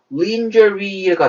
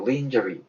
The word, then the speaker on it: lingerie: 그러면 철자만 보면요. 발음이 lingerie가 될 것 같아요. lingerie. 그렇지만 lingerie가 괜찮지 않습니다. 액센트가 뒤로 찍혀서요. lingerie라고 있습니다. lingerie.